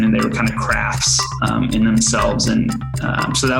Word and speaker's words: KRHFT: great spot anyway sorry why why krhft for craft as your twitter brand and can we change